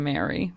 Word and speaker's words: Marie: So it's spelt Marie, but a lot of people were like, it's pronounced Mary, but it's spelt different to the ship itself.